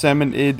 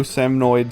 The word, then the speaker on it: salmonid: that too, but yes, it is pronounced salmonid, even though salmonoid sounds better.